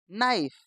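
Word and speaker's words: knife: एन आई एफ ई नाइफ के एन आई जी एच T night के एन आई T night के तो शुरू का पढ़ना ही नहीं के एन आई डबल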